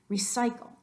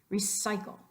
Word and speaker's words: recycle: Recycle. Recycle. We're emphasizing the psi and drawing it out.